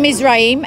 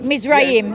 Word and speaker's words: Mizraim: It's Mizrim, yeah. It says Raim. It says, look. M-I-Z-R-A-I-M. This is, and the sons of it says Mizraim. Yeah. Mizrim. No, that's not how you pronounce that. Well, some say, some pronounce it like that.